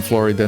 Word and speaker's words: Florida: I'm sure people from Florida know it. The correct pronunciation is Florida. As in Terra Florida, or Land of Flowers.